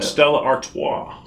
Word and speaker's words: Stella Artois: twi artois how you say that that's awesome stella artois it's just fancy bud light i figured it